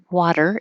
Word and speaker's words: water: So I'm going to use a D, even though it's a flap, water. It's very quick, water, but just think of it as a D and you won't sound wrong.